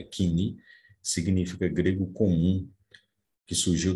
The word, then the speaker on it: koiné: O Kini, ou Koiné, ou Koiné, existem várias formas de pronunciar. A pronúncia moderna, ou erasmiana, é Kini, significa grego comum, que